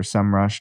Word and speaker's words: Semrush: things other third-party tools things like semrush or semrush depending on who you ask and how you pronounce it what part of country but i call it a cm rush sem rush have both seo and